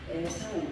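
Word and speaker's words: עֵשָׂו: 합니다 소의 이름 이름은 히브리식 발음으로 보면은 에사우 에사우 오이의 에사오이 뜻은 웃다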